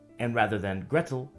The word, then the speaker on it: Gretel: comes from hansel and gretel which is more like hansel and gretel in cockney pronunciation and gretel rhymes with kettle hansel and gretel is